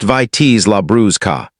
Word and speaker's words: Vitis labrusca: Concord grapes belong to a different American species entirely, called Vitis labrusca, pronounced Vitis labrusca.